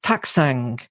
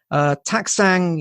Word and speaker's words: Taktsang: my own kind of teaching website, which is Taksang. Taksang is Tibetan, or it's a place in Bhutan.